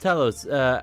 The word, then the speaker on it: Talos: I know it's I know foreign words sometimes just don't look and sound the same, but it is pronounced Talos.